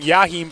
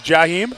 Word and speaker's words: Jaheim: I did get a message saying that I was saying Yaheim Foster. So I do apologize. It is Jaheim.